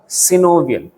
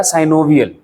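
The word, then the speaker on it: synovial: पहला फाइब्रस, दूसरा कार्टिलेजिनस और तीसरा सिनोवियल या साइनोवियल, जो भी आप वर्ड यूज करना चाहो, दोनों तरह से प्रोनाउंसिएट कर सकते हैं।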